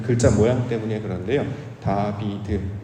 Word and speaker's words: 다윗: 다비드 요게 이제 발음은 그렇게 해요. 우리는 이걸 다윗이겠지만 다비드인데 솔로몬이 이제 어렸을 때 애기였을 때 불러진 별칭이 하나 있었어요.